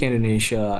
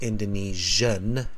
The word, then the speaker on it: Indonesian: second language yeah and you really need to pronounce that n at the end of Indonesian not Indonesia because Indonesia is the country right so it's Indonesian as the adjective right and later on